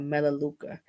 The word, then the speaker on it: Melaleuca: but the name of the company is called melaleuca and their products are dynamite vegan uh plant-based